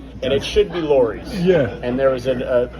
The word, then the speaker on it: Lawry's: sounds more Regal right and it should be Lori's yeah and there was a the law is that there was a radio announcer in the 60s that mispronounced it on air and pronounced it as a Lowry's yeah where in reality it should be Lori's